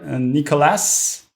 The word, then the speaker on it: Nicolas: They can reach me on Twitter, Nicolas. So yeah, I'm French, so it's written with an S, but it's not pronounced. So it's Nicolas at of FRANKEL.ch.